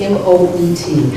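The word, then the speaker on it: Moët: and Mark you've got to help me with m-o-e-t how do you pronounce it well that's that's Moet all right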